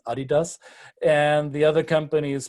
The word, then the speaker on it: adidas: we have adidas or as americans say adidas but it's trust me it's adidas and the other company